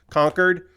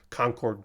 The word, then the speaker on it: Concord: city is pronounced yes conquered um yes he was pronouncing it like the place not like Concord The Other Place uh the the jet